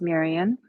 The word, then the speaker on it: Marian: So my name is Marian. Thank you for pronouncing my name correctly. Rhymes with Syrian.